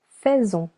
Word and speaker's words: faisons: Nous faisons. Nous faisons. The letter S over here sounds Z because it is linked with the letter O.